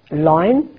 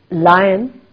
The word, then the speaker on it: lion: that most people make they say Lo no loin is the wrong pronunciation lion is the correct pronunciation M for melon it's